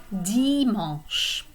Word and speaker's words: dimanche: And finally, Sunday we have dimanche. So this AN is a nasal vowel, and that's going to be pronounced like dimanche.